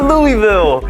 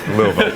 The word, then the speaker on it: Louisville: Ed: Yeah you can’t do that. Geoff: And she was just like, “Well that’s not…” Ed: You just gotta say it like you’ve had three drinks. Your tongue drops, your lips drop.